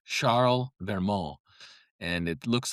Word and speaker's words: Charles Vermot: And his name was Charles Vermo. And it's actually pronounced in French, I believe, Charlmal. And it looks like Charles Vermont.